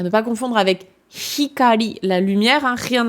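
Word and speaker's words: 光: D'où l'importance de bien prononcer votre H, parce que sinon, c'est le même mot. Donc, ikari avec un I, c'est la colère. Hikari avec un H, c'est la lumière.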